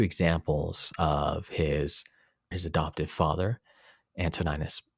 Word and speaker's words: Antoninus: of his adoptive father, Antoninus Pius, or Antoninus Pius, sometimes pronounced as well, showing this sense of view, the sense of circumspection.